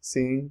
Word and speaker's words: sim: would you say quickly sounds like the English word seeing as and I'm seeing someone si si si si and